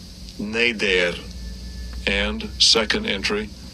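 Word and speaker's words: נֶדֶר: And it is H5088, and I'll give you a pronunciation of it. Strong's H 5088. Neder, Neder, and second entry, Neder, Neder.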